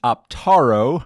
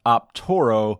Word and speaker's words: Optaro: It is Optaro with an A, not Optoro with an O.